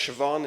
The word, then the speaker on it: Siobhan: The story behind the book, it's pronounced Siobhan, it's an Irish name.